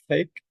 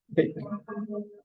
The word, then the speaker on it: thick: Thick, it is one. Thick, huh? Thick, thick, like a T, like a TH, thick, thick.